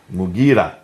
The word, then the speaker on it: Mughira: Basra, Amir ibn Abdul Quyas, sorry for the pronunciation. Qais. In Syria, Al-Muqarid ibn Shuba, Mughira ibn Shuba.